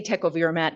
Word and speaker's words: tecovirimat: I say tecovirimat because it is an E, but that's not the question here.